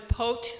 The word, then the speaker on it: POTE: So the Port of Olympia Action Team is known as POTE, rhymes with boat.